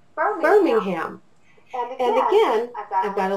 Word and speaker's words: Birmingham: And so this word would be burr, ming, ham. 3 syllables pushed together that would say Birmingham.